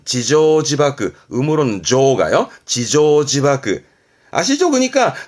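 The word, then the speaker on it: 自縄自縛: 발음은 지조지바크, 음으로는 조가요.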